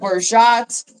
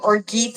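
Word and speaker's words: orgeat: a huge fan of orat or Orit as some people pronounce it I don't get fancy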